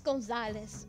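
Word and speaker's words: Gonzales: It's Gonzalez. God damn, I hate it when people mispronounce.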